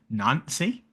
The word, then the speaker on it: Nancy: It's not Nantes because that's Nates, but is it just Nancy? Like, Nancy, yeah, Nancy.